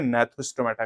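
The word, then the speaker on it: Gnathostomata: जी silent है नेथोस्टोमेटा करेंगे।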